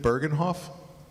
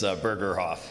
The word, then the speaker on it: Bergerhof: Bergenhof? You mispronounced it, but I'll blame that on my handwriting. It's Bergerhof.